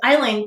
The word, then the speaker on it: island: balance of meaning and you'll notice um that it then has a silent s in it to keep it looking like aisle which has a similar